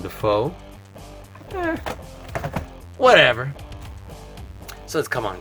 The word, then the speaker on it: Dafoe: Awesome how foe might rhyme with Defoe, as in Willem Dafoe.